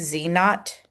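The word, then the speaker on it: z naught: I couldn't remember what they did that when it's subzero it's pronounced not so it's z knot it's going to be p hat minus p / the square root of p * 1 - p over n.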